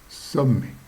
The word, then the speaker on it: sommets: MET, ça fait mais, ça se prononce mais. Le S, ça ne se prononce pas parce qu'il y en a plusieurs, mais il ne se prononce pas. Il y a 2 M, ce qui fait que ça ne fait pas sommet, mais sommet.